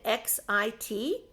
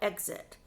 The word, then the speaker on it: XIT: 10 counties in Texas he called it x-i-t and that means 10 in Texas but a lot of people when they see xit they pronounce it if they don't know that they they call it exit and sometimes they say